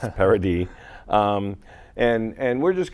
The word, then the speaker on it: Paradis: for a good dozen years everybody calling him paradis or paradise it is parody um i have half of my family was